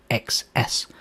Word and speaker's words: xs: list to the name XS which is pronounced as X's and is the usual